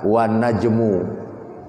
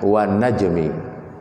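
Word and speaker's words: وَالنَّجْمِ: Ya, jadi tidak ada ahli bahasa Arab yang membaca wan najmu atau wan najma, enggak ada. Pasti membacanya wan najmi.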